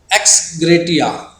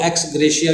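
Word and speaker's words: ex gratia: हाँ जी, एक्स ग्रेटिया, कुछ लोग एक्स ग्रेशिया भी बोलते हैं, तो जैसे भी आप प्रोनाउंस करना चाहे, मतलब ग्रेटिट्यूअस।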